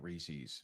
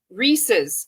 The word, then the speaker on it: Reese's: Reese's. It's not Reese's, is it? Some people might pronounce it Reese's, but the company has clarified that the correct pronunciation is with a zed sound at the end.